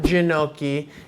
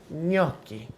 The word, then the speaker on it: gnocchi: we need to get in how do you pronounce noi it's not janoi it's not gachi it's not geni it'si noi now noi are a difficult thing my friends